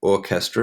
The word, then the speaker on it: orchestra: Okay, we have orchestra. Remember, the CH is pronounced k.